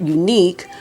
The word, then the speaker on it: Eunique: The name Eunique Beauty comes from combining the word EU, meaning good, well, of Greek origin, and the word unique, pronounced Unique Beauty.